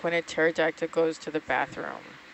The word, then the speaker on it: pterodactyl: What does it sound like when a pterodactyl goes to the bathroom? Nothing. The P is silent.